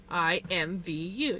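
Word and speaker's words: IMVU: So I always said I invu. And it sounds like you're saying I envy you. But yeah, invu just sounds weird. Why would I say invu? It's all capital letters. So I would spell it out as capital letters. I invu. I am Vu.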